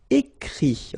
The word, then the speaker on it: écrit: Écrire, to write, so ire, will give it, écrit, okay. Remember that even if you've got this final t, you don't pronounce it, so it goes like écrit, okay.